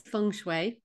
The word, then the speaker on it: Feng Shui: fun and first off did I pronounce it correctly so many people say F or different versions of then how would you say so how I say it is fun so I think you